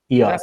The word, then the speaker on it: Eos: And if you want to find EOS Project EOS Rise, EOS, is it pronounced EOS? EOS.